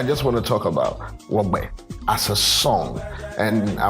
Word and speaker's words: Wogb3: Before we get into anything, I want to talk about Wogb3. I hope I pronounced it right.